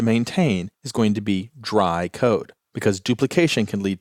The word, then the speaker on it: DRY: The first of those is dry code. Now, I'm always going to pronounce that as dry, but it's actually three letters, D-R-Y, which stands for don't repeat yourself.